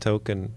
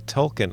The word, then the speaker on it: Tolkien: I mispronounced token. A Tolkien.